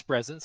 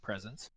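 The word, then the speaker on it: Spresense: way to sony presence i think the pronunciation is presence like presence find out uh but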